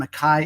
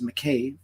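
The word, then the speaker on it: Mackay: under granny g-r-a-n-n-y and Makai is spelled m-a-c-k-a-y that's McKay for us non-scottish people uh and you can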